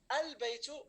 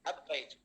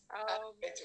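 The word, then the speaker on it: البيت: So the first word, is it al-baytu or ab-baytu? Al-baytu. Al-baytu, very good. However, I heard only 3 voices. Where is the rest, everyone? Still have dinner, maybe. Have dinner. Very good. Yeah. Al-baytu, very good.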